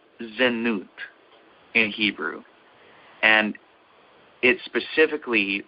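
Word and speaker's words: זנות: at the vowel points to see if I'm pronouncing it correctly. It's zenut in Hebrew, and it specifically refers to sexual immorality.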